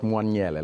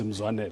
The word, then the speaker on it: Mzwanele: Zwanele, not Mwanyele, like they had it on our script. No, right? I've got it right, but pronunciation is Mzwanele.